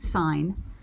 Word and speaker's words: sin: s i n and you don't pronounce it sin you pronounce it sine sine of an angle